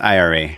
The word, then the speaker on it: Ira: And I think there's a very famous, I hope I don't mess this up, Ira Glass. He does the I'm pretty sure it's pronounced IRA.